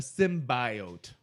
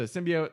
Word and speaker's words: symbiote: yeah which I hate they pronounce it sim bio which I don't like and it's like for for me at least I think you're in the same train Bo yeah it's a symbiote my entire life isn't